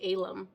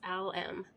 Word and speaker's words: Al-Em: um his name is I keep wanting to pronounce it wrong his name is Al m l m i want to say alum but it's out yeah I'm being corrected it's owl M and it's a male